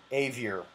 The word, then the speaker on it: Avior: is your last name avior a v i o r it's spelled the same way as the last part of the word behavior xavier a-v-i-i-o-r and uh